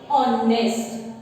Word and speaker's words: honest: H should be silent. Honest. The pronunciation you should start from O.